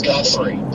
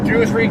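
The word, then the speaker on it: Guthrie: Why do people not know how to pronounce Gthrey? Goory. Guffy. Whatever. Who the hell would say Goo?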